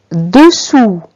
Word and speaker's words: dessous: Dessous. Attention, S est une lettre muette.